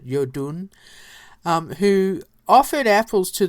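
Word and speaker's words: Iðunn: tells the story of the goddess adun or you actually pronounce it Yun um who offered apples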